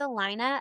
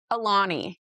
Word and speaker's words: Alani: I have loved the I don't even know how you say it, but I think it's Alina. Al Oh, it's um Alani.